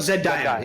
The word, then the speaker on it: Zendaya: pronounce it. Zendaya. It's something like that. Yeah, I apologize. Zendaya. That's Oh, right. Zendaya.